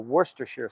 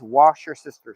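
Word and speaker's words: Worcestershire: for this weekend so let's start with some wer Shear sauce or Worster Shear sauce actually or yes they're calling it these days wash your sister sauce I grew up with Worster sheare sauce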